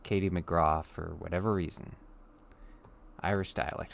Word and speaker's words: McGrath: her name is spelled Katie McGrath but it's pronounced Katie McGrath for whatever reason Irish dialect for you anyway